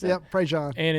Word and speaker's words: Prejean: Prejean. Prejean, yeah. Is that how you pronounce it? Yep, Prejean.